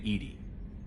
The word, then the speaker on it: EDI: have a specific inquiry why are you named Edie Ed is the phonetic pronunciation of e that is an acronym for